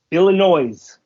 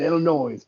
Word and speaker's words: Illinois: yeah I always anybody anytime someone says Illinois I'm like the S is silent like you should be